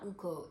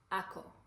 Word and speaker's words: Ako: out to uko um I'm actually saying it wrong it's not Uncle it's Ako AKO I think yeah yeah I'm